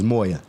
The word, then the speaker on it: mw: You corrected I pronounced it wrong. It's Moya.